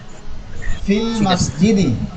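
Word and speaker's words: في المسجد: এই জন্য যখন এরকম দুইটা জজম একসাথে আসে, আর ওই দুইটা জজমের মধ্যে যদি ওয়াও ইয়া আলিফ, ওয়াও ইয়া আলিফ, এই তিনটা হরফের যে কোনো একটা হরফ থাকে, তখন ওই হরফের উচ্চারণটা বাদ পড়ে যায়। আর এটা কি উচ্চারণ করাও সম্ভব না, এই জন্য সহজভাবে বলা হয় ফিল মসজিদি।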